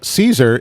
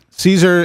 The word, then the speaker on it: Caesar: Caesar is pronounced with an S sound in English and with a K sound in Latin.